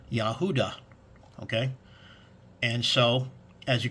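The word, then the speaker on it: יהודה: does not so but the Strong's Concordance gives you the actual phonetic prononciation of Judah which is yahuda okay and so as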